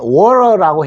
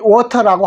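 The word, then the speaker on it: water: 알고 계시죠 물 근데 물 할 때 미국 발음은 워러라고 해요 그러니까 영어 발음을 잘 하시는 분들은 물을 가지고 이렇게 물을 워터라는 말을 워러라 하고 또 뭐 워터라고 하시는 분도 있는데 영국에서는 워터라고 t 발음을 정확하게 해줍니다 거기에서요 내용이 나왔기 때문에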